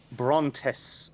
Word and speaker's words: Brontes: And you are going to the Brontes prison. Which is spelled like that. As in Charlotte.